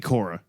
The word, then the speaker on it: Quorra: If you want to tell Cora hello and how adorable she is, Look at Cora.